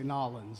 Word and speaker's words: New Orleans: correct yeah I guess New Orleans New Orleans no if you're from New Orleans they say nawlins but you got to be from there to know how to say it the right way you know if you're